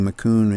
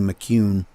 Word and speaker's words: McCune: the way it's pronounced I was calling him Danny mccoon and he says no it's Danny McCune McCune okay well remember